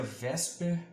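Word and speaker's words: VSEPR: um longo bem complicado e pronuncia vesper apesar da forma que está escrita é um me explica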